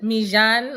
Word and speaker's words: Milan: He says Mijan, like, because he's Puerto Rican, so he's got to add the accent. I just say Milan because then people don't butcher it.